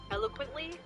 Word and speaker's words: eloquently: But despite Sayori's expectations, Yuri equality what help I'm pretty sure it's pronounced eloquently. eloquently eloquent fuck I know it's a really hard word to say. eloquently It's elo and then quently.